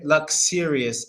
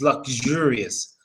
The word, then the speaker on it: luxurious: similar so it said it's not Lux luxuous it's luxurious luxurious so it's kind of